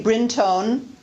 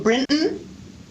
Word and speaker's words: Brinton: does not say clinton i do not say brin tone i pronounce my last name britton and she pronounces her